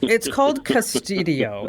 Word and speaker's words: Qustodio: Anyway, it's called Custodio, and it's spelled with a Q, Qustodio, Custodio.